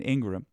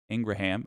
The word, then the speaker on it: Ingraham: that Carlson Hannity and Ingram Ingraham I can't believe that's the correct way to say her name but it is uh didn't believe the